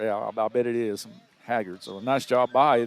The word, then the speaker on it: Haggard: It was Maddox Haggard. Say it like that, Haggard, right? Haggard or Haggard, but I'm thinking it's probably like Merle Haggard.